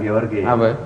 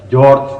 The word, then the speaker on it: George: Bukan Georgi. Bacanya jangan let George Washington.